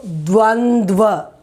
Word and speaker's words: द्वन्द्व: So the pronunciation you should know it very well. It is not Dvandva Samas or anything. Dva, and the last also it is Dva. Dva it is D-W-A.